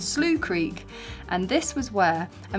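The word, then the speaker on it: Slough Creek: into a place called slooh Creek or I pronounce it slow Creek as a Brit but it's slooh Creek and this was where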